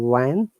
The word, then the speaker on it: when: price of new cars fell when, remember, it is not when, H is silent, when the EU Mm, introduced new laws and mm.